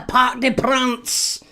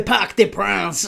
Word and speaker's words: Parc des Princes: I can't even say it with a French or a French accent. The Parc des Princes. Uh you've got to say it like that. Doesn't count otherwise. You can't say Parc des Princes.